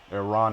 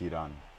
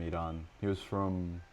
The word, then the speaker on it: Iran: Iran is like how you would say it in America, but I think it's Iran.